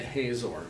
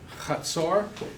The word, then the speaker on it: Hazor: One of the most important Old Testament cities is this one, pronounced Hazor. Most people say Hazor, but Hazor, and there is a tell there.